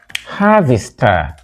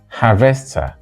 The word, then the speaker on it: harvester: going to harvest casava first syllable it is always pronounced Harvest whether it is a verb or a noun the stress does not change and there is no